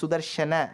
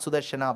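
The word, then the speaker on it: सुदर्शन: Akarantam is Trilingam. It is Sudarshana, not Sudarshana.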